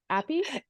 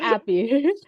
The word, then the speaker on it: AAPI: that term aapi you you made it short appy felicious is appy yeah AI I learned that from you Felicia yeah it's like why not appy yeah I think it's pronounced so many different ways but I like that